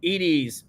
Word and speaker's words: Edie: Oh, and look, we've been pronouncing Edie's name wrong. It's not Eddie, it's Ed. Edie.